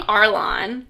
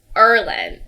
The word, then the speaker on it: Erland: name but it cuz last time I was saying Arlon which my bad that's not it for asand but it's Erland Erland drand erand spell